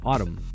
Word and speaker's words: autumn: And the word autumn, it's got two M's. Yeah. Or what doesn't? It has an M and an N. But it's like Ottoman. Ottoman. Yeah, like the N is silent.